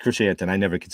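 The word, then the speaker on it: Krrsantan: Carrie Jones, who is the Black Krasistan, the newest Chewbacca. Black Krashantan. Correct, Krashantan.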